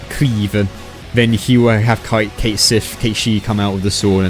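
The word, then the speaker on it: Cait Sith: So he's using Keisif, or Keishi, which is the proper way to say it, and SMT does say it, and Neko Shogun.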